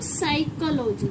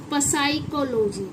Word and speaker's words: psychology: साइकोलॉजी, ना कि पसाइकोलॉजी, ना पसाइक्लो, इट्स अ साइक्लोलॉजी। पी क्या हो गया यहाँ पर हमारा? साइलेंट हो गया।